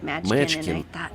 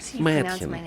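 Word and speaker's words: Mädchen: Ты все повторял и повторял «Мэчкин». И я подумала, надо ему как-то сказать, как правильно произносить. И вот я набралась смелости, подошла к тебе и говорю, знаешь, Дэвид, мое имя произносится как Мэткин.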